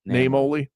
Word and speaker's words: Naimoli: He took over from the founding owner, Vince Naimoli, I think is how you pronounce it. Yeah, Naimoli.